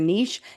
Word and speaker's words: niche: Believe it or not, we focus on things like your target market, also known as your niche or your niche, depending on how you say it.